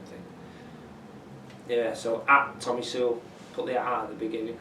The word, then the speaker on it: Soulle: Soulle, no, it's pronounced Soulle, by the way. Soulle.